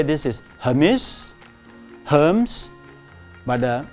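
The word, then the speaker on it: Hermès: A lot of people say this is Hermes, but the correct pronunciation for this French brand is called Hermes. Hermes. Okay, please note it's Hermes, not Hermes.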